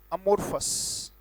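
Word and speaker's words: amorphous: उच्चारण में पहले लिखूंगा अमोर्फस, और मैं उम्मीद करूंगा मेरे साथ बोल रहे हैं आप.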